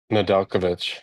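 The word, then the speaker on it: Nedeljkovic: I I forget how to pronounce his name. Nadulkovich.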